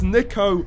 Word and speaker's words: Niko: it's quite a starting uh lineup niko they said my name wrong i can't believe it it's nico not nico i don't know how